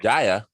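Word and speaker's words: Kjær: Jaya, and Kier? then Kier. The Denmark guy? Commentator says Kaya or Jaya or something like that. Jaya. So that's how he pronounces it.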